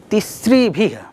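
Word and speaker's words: तिसृभिः: ध्यान दीजिएगा, तिस्रिभिः, उच्चारण भी आपको सही करना है।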